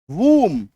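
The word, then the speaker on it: womb: डब्ल्यू ओ एम बी वूम बी यू एम बी डम बी को काट दो है ना बी को पढ़ना नहीं है अब कहेंगे सर क्या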